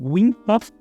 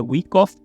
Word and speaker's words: Wyckoff: Por quem fala é aí que eu pronuncio errado, porque eu falo Wyckoff, e certo é Wyckoff.